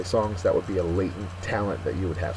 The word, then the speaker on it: latent: Our next word is latent, and every time I hear latent, I always think of superheroes, like Spider-Man here. Latent is an adjective. First syllable is accented.